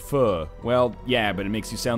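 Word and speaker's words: phở: I know, it's pronounced pho.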